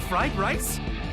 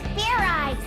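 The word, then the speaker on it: Fairize: eyes Fair eyes is that sort of like fried rice idiot it's pronounced Fair eyes there's no ice in it what does this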